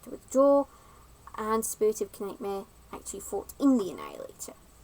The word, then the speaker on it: Knightmare: Yeah, I know it's pronounced Nightmare, but gotta make sure that the subtitles don't mess around.